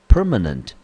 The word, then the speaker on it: permanent: permanent 第一个音节 per 我们念成 per，第二个音节呢 ma 我们念成 m nent 啊，这个音节我们念成 nent，中音节落在第一个音节，这个字我们念成 permanent。Permanent，那 permanent 这个字呢，它此类是一个形容词，中文翻成永久的、常设的。来，我们看英文解释：Going on for a long time and meant to last forever.